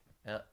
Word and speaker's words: lair: And when you say, is it L, and then you say the word air, Yeah. lair, Yeah, lair. so there's no y in it.